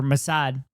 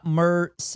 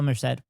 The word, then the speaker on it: Merced: a Dina S cuz Isabella Mora or Msad. Fuck, I got her fucking name right. I got I got her name wrong. Isabella Merced. I think it's Isabella Merrced. Yeah, Isabella Merrced.